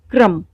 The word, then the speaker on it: क्रम: क्रम, आप यहाँ देख रहे हैं कि मैंने बोला क्रम, क के पैरों में र लगा हुआ है, र का उच्चारण क के बाद में है।